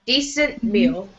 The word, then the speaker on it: decent: Now here you don't have to say the T so much. Decent meal.